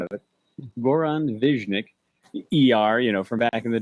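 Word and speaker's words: Goran Višnjić: And Goran Viznik, and I've been told that's the proper pronunciation of it. Goran Viznik.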